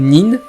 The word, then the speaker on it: nin: Ce kanji signifie caché et endurant, et il peut se prononcer de 2 manières, shinobi à la japonaise ou nin à la chinoise.